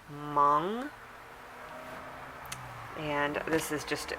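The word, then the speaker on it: Hmong: which is completely wrong the H is silent so - pronounced mom and this is just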